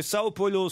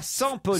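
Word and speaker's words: São Paulo: Et donc, en portugais, on dit bien Sao et non pas San Polo.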